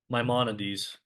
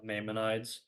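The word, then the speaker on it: Maimonides: famous rabbi later um my monades um which is like if you read if you see the name you might be tempted to pronounce it may uh mmonides or mayonides but it's mymonades.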